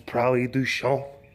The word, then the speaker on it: Prairie du Chien: Small town called Prairie du Chien. Although I believe that the French pronunciation is Prairie du Chien.